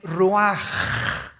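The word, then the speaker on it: רוח: El ruaj que se escribe r u a c h. Ruach en el hebreo y se pronuncia igual ruaj.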